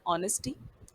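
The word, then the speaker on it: honesty: Next word आप familiar हैं, एच को साइलेंट रखा गया है इसलिए ऑनेस्टी।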